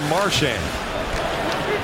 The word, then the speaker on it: Marchand: Bergeron bunts the puck wide to Marchand. If you're just joining us, that's how he wants his name pronounced.